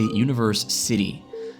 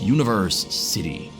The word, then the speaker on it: Universecity: You kinda say it like university, but it is a Universecity. Not to be confused with the university, but you kinda say it the exact same way.